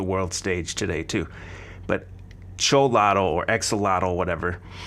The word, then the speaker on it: Xolotl: I call it Exolotl. I know that's not how you say it. I think it's pronounced Cholotl.